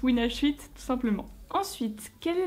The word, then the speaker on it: WinH8: voilà mais oui aussi petite précision ça se prononce win shite voilà parce que déjà souvent quand on me parle on me dit win machin parce que les gens ont peur voilà il